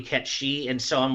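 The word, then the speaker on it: Cait Sith: in arms it's like I always do it as Kate Sith originally and then I learned later that it was actually KET she and so I'm like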